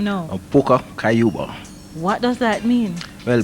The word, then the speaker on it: Pucka Kayuba: How you pronounce that name now? Pucka Kayuba.